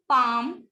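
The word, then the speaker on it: palm: ठीक है, बाम, पाम एंड calm.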